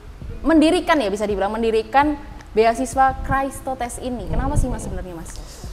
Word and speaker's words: Chrestotes: sih sebenarnya itu bahasa bahasa Yunani sebetulnya baca Christo test strips ya bacanya gitu katanya jodoh tapi kalau lidah-lidah Jawa